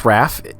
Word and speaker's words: Raff: and only Elliot Raph is your last name pronounced Raph is that right yeah that's right okay so